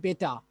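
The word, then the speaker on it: better: এখানে আর এর উচ্চারণ হবে না, সবসময় জেনে রাখবেন যদি কোনো শব্দের শেষে আর থাকে এবং তার পূর্বে যদি ভাওয়েল থাকে তাহলে এই শেষের আর এর উচ্চারণ হয় না, তাহলে এটা আমাকে পড়তে হবে বেটা, বেটা।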